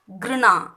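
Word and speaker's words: घृणा: Sixth கிருணா. இது கான்னு pronounce பண்ணாதீங்க, கிருணா இக்கு ப்ரொனவுன்ஸ் பண்ணாதீங்க. கிருணா இக்கு இக்கு சவுண்ட் வரணும்.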